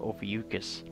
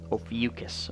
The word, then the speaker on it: Ophiuchus: in a constellation called Ophiuchus Rio fuchsias depending how you pronounce it and that's that spelled OPH I you see H us Ophiuchus or over you just you know you know for Usha's 3 different pronunciations as a constellation that